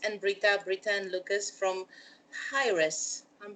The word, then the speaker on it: Hiraes: uh it's lucas and brita britain lucas from hi-res i'm pronouncing it correct yes absolutely hi hilly now